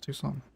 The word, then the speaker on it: Tucson: getting comments actually it's it's Tucson egg it's too sun is it mate right thank you thank you for confirming along with hundred other